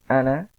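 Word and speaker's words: أنا: Ana, ini adalah saya, walaupun di sini kalau dalam tulisan itu ada setelah nun ini ada alif, Tapi ini tidak dibaca panjang. Ini bacanya cuma pendek, satu harokat saja.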